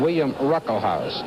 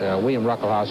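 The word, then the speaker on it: William Ruckelshaus: his second term is running behind the Republican William ruckle house the uh first s in his name is pronounced it's it's silent William ruckle house who's Majority Leader he's just uh 35 years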